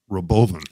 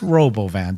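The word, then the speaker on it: Robovan: a long time to properly pronounce it Roven it's Robo van don't call it Robo h no every everyone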